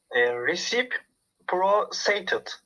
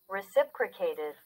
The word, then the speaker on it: reciprocated: Reciprocated. Reciprocated. Bak, reciprocated. Tekrar diye anlatıyorum. Reciprocated. Hani recipe gibi başla şey.